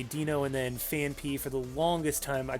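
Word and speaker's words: Phanpy: Dino, I used to say Dino, and then Fanpy, for the longest time I called it Fanphy, and I believe even in the anime they called it Fanphy.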